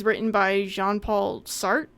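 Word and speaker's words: Sartre: written by Jean Paul sart I believe is how you say his last name and he is a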